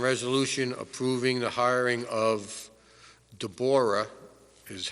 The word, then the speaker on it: Deborah: Item 7.2 is the discussion and resolution approving the hiring of Deborah, is how it is pronounced, Arginius, for the position of part-time clerk, building department, at an hourly rate of $17.